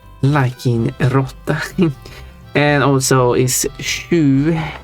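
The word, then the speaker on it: sju: go eight is liking rot and also is shu not su is it written as yeah it's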